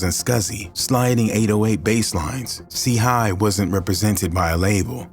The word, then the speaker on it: C-Hii: The name WTTZ, pronounced Watts, paid homage to an LA neighborhood, while C H I I, pronounced C Hi, signified his affiliation with the Crips, a notorious street gang.